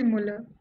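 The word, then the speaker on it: Müller: I don't know if I'm pronouncing it wrong or right. Well, like kya pronunciation hai iski? It should be Muller.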